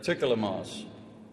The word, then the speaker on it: Turkyilmaz: So I asked her today, Turkyilmaz. It's pretty close.